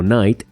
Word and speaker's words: knight: Y es que cuando encuentras una palabra que comienza con KN en inglés, como knight, caballero o knee, rodilla, la K se vuelve muda y no se pronuncia en absoluto.